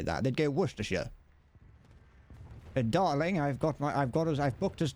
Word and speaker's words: Worcestershire: No, that's Worcestershire. We pronounce it like that. We don't pronounce it Shire.